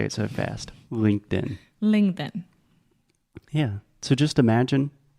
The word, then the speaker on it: LinkedIn: is the same so sometimes we use a true T and say linked in most of the time we say LinkedIn okay does that make